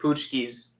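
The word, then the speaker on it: pączki: Poochkes. That's how you say it? I thought it was Yeah. Patchkes. No, it's Poochkes.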